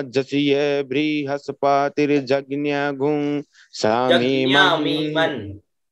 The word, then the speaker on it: यज्ञ: देखिए यज्ञ है ना, यज्ञ यह शुद्ध उच्चारण है यज्ञ। तो जो अल्पज्ञ है नहीं जानते वो बोलते हैं, लेकिन अपन लोग जानने के लिए बैठे हैं तो यज्ञ शुद्ध उच्चारण करिए।